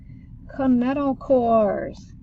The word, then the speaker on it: kinetochores: Kinetochores. K-N-N-E-T-O-C-H. See, it sounds like a K.